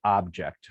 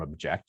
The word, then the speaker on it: object: ask you what distinguishes object from object you say well the the first syllable is stressed um an object and the second syllable is stressed and object okay object object okay